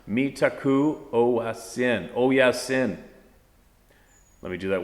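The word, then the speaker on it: Mitákuye Oyás'iŋ: Mitakwe Owesin, pronounced Mitaku Oyasin.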